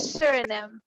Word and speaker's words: Suriname: Maybe I'm not understanding her pronunciation. Suriname.